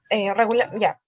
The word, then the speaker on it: ja: listos con otras frases ya en alemán cuando tú quieres decir si está ok dice se escribe jota pero se pronuncia ya la jota se pronuncia como una y ya ya en negativo